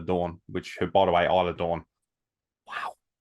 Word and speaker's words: Isla Dawn: Alba Fire and Isla Dawn, which by the way, Isla Dawn, wow. Michael Cole called her Isladon on air. He didn't know how to pronounce it.